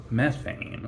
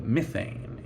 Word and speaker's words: methane: emerges from the ground which is methane not not methane or methane but methane it is the myths and